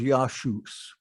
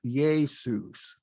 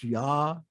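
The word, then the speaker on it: Ἰησοῦς: Thessalonians 1, verse 2, and the way that's pronounced in Greek is Yashus, not Jesus. It's Yashus. Because in Greek, a male name ends in an S.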